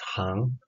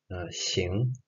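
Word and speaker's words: 行: And this character actually has two readings, like one is Xing and another one is Hang. But in this word and in this context, this character is pronounced Xing, and it means literally to go or to walk.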